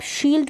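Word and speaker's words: shield: एस एच को श और आई ई को बड़ी के रूप में, एल डी को आधा ल, एल को और डी को ड, शील्ड हो गया।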